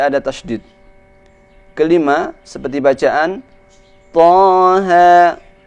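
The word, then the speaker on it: طه: Membaca Taha ini, cara mengucapkannya harus diurai seperti huruf ta, sesudahnya ada alif, maka dibacanya Ta. Ha, ada ha, kemudian ada alif. Taha. Maka ketika kita urai, tidak kita temukan setelah bacaan ta atau ha itu hamzah atau tasydid.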